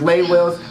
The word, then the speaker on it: Lay Wills: I almost said her name wrong, but I'm not gonna say it wrong because it's Lay Wills, the one and only, the legendary Lay Wills.